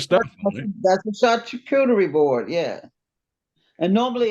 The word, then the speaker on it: charcuterie: I used to call it security board because I couldn't pronounce That's what I said. charcuterie.